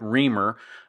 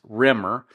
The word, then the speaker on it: Remmer: rer case of course he called it reer but it's spelled r m m r so it's not really reer it's Rimer but when he talked